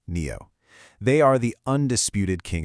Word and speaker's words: NIO: That's NIO, pronounced NEO.